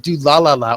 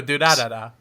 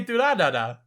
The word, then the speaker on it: Durarara: You say it like do la la la almost. No, Durarara. Just do ra ra ra. You say it really fucking oddly. I do? Yeah! I don't know. I say Durarara.